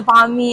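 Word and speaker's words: bánh mì: The banh mi and the pho?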